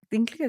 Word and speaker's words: Dinklage: Ah, Y sí, salió que Peter ¿Dinklage se pronuncia?